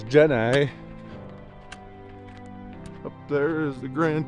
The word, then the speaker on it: Jenny: The correct way to pronounce it is Gen I.